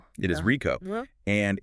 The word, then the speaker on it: RICO: It's about R IO and it's pronounced RICO. It is RICO and it's about the critical legal difference between who pays the bill and who actually owns the claim.